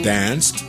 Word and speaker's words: danced: Donc le S, le son, les verbes finissant en s, le son s, comme dance ou Danced.